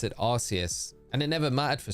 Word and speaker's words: Arceus: See, I pronounce it Arceus. Arceus, yeah. Am I wrong? I think it's well, it is Arceus.